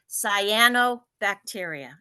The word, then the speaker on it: cyanobacteria: first I want to tell you how to pronounce it so it's SII as in SII cyano bacteria it's not cryo it's not Soo it's cyanobacteria